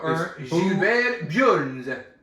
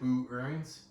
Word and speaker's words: Burns: Wait, and how do you pronounce that? Gilbert Burns. Wait, so you pronounce it Boo Earns? Yeah, I was saying Boo Earns.